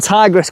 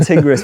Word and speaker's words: Tigris: One tigress quilt. We keep saying it wrong, by the way. We norally say tigress, don't we? Tigress. One tigris, but it's one tigress.